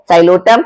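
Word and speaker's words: Psilotum: Spelling P से शुरू हो रही है, प्रोनाउंसिएशन एस से स्टार्ट हो रही है, साइलोटम।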